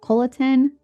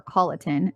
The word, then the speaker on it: Colleton: consists of Beaufort Jasper coliton or Colleton is how they say it I think in Hampton